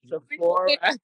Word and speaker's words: Sephora: I want to turn to Sydney because we have another partnership with Sephora Beauty. Sydney, could you tell us a little bit about that? Sure. So Sephora. Thank you. I stand corrected. Sephora.